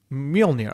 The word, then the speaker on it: Mjolnir: Mjolnir replica. I thought you played the games. How do you say it? Well, this is which one? Mjolnir.